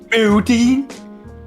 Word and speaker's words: Putin: Like Putin? P-O-O. Putin. Oh, I'm gonna put this exact quote in the Twitch chat.